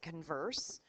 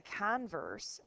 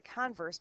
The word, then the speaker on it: converse: but in math the converse the the accent is on the front part of the word the converse means the opposite so